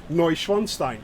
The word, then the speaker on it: Neuschwanstein: wanted to hear it the actual pronunciation of neuschwanstein is actually castle neuschwanstein yeah it is so